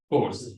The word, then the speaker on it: chores: All the responsibility of chores, that's not the right pronunciation. It should have been chores, household chores.